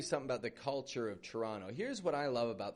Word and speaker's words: Toronto: But that T-O-R, chur, O-N-T-O, ono. Not an onto, but an ono. So instead of going Toronto, just give it a quick Toronto. Just after Toronto. So Toronto, Canada's largest metropolis,